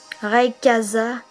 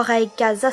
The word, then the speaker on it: Rayquaza: Rayquaza, c'est pas Rayquaza, c'est Rayquaza.